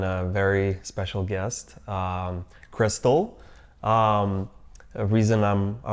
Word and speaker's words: Cristal: Um, well, my name is pronounced Crystal, you know, when you say it in Spanish, so that gives it away.